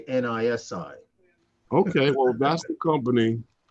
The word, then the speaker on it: Nisi: N-I-S-I. Inside? Or Nisai? I would say Nisi. Nisi or Nisai? Nisai sounds like you're drunk, and Nisi sounds like you're trying to speak another language.